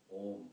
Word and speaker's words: Om: all names, it is Om. A, and the U in between indicates all other letters. A plus U become O plus makara makes Om.